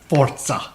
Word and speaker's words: Forza: It's pronounced Forza.